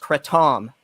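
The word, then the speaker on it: kratom: It starts with It starts with the letter K and it's pronounced Cretam.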